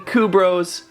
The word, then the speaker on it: Kubros: tell us I'm thinking kubros it's with a K if it was with a Q it would be Q Bros now that that's done